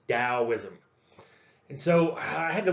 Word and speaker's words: Taoism: with a t but you still pronounce it dao like the dow jones industrial average and it it's taoism and so i had